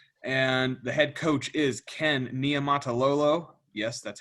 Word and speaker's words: Ken Niumatalolo: in annapolis maryland and the head coach is ken nia matalolo yes that's how i s how you say